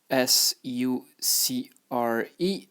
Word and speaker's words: sucre: So, sugar in French is SUCRE. SUCRE. And how to pronounce it is sucre.